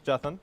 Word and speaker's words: Jathan: So about us, my name's Jathan, or you can call me. That's how you pronounce my name, in case you can't figure it out, because a lot of people say Jathan, Jathan, all sorts of things.